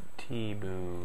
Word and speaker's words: Thibault: And they actually like spelt it out how some of these cars do it, like the T-B-O-O. That's how you say it. Thibault.